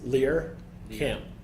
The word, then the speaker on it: Lehrkamp: I've heard Lehrkamp, and Lehrkamp. Is there one that we can lock in on? Any chance? Lehrkamp. Lehrkamp, okay.